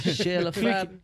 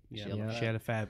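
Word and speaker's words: Chez le Fab: Shale of Fab as well, for anyone who wants to Google it. It's spelled C-H-E-Z. L-E-F-A-B. Yep. Shale of Fab.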